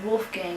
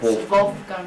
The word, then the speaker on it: Wolfgang: It's pronounced Wolfgang in English, right. but it's Wolfgang in German place.